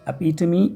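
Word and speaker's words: epitome: ठीक, नेक्स्ट है, ये इंटरेस्टिंग वर्ड है, प्रोनाउंसिएशन होता है एपिटमी या एपिटमी।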